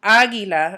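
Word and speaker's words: águila: first a so Aguila remember when I kind of pronounce it and I put the emphasis on a certain vowel there's going to be an accent that sits on that velon Aguila I'm putting the accent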